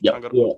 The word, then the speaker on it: Tangaroa: In the song we reacted to Tangaroa, right? Did I pronounce that correct correctly? Tangaroa.